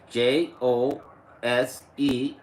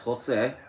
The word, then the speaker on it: Jose: And my name is spelled J O S E. That's Jose.